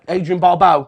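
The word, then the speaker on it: Adrienne Barbeau: for christ's sake what a classic wife uh adrian barbau that's how you pronounce the name i always say the last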